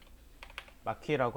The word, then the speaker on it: marquee: 자, 마퀴라고 하는 아이, 자, 영역 툴입니다. 자, 제대로 발음했나 볼까요? MARQUEE 맞네요.